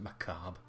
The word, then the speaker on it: macabre: You pronounce it macabre. Danse macabre.